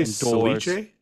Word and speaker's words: ceviche: Did you say Ceviche? Yeah. Huh? Is that how it's pronounced?